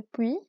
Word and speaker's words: puits: Creuse le puits avant d'avoir soif. Creuse le puits. فهنا في le puits ما كنطقوش TS كنكتفيو puits. Creuse le puits avant d'avoir soif. OI كتعطي le son و.